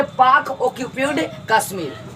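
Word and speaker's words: PoK: इस वाले भाग को हम लोग कहते हैं पोक। इसको पोक नहीं पढ़ना है, ठीक है ना। इसको पढ़ेंगे पाक ऑक्यूपाइड कश्मीर। पाक ऑक्यूपाइड कश्मीर क्या पढ़ेंगे?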